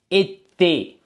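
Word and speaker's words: été: வந்து நாங்க பிரெஞ்சுல வந்து எத்தே என்று வாசிக்கணும் ஓகே இதற்கு சொன்னாங்க இதுக்கு உச்சரிப்பு ஏ இதற்கும் அப்ப வந்திருக்கு திருப்பி வந்திருக்கு ஏ அப்ப உச்சரிப்பு எத்தே எத்தே என்று வாசிக்கணும் ஓகே அடுத்து பள்ளிக்கூடத்தை வந்து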